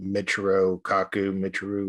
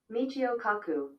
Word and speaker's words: Michio Kaku: Blacklisted by the science community, and now we got, like, I always say his name wrong, but Michiro Kaku. Oh, yeah. Michio Kaku.